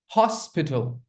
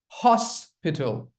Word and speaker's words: hospital: Hospital. Hospital. Very good. Hospital? No, it's not hospital. It's hospital. Very gently you have to say.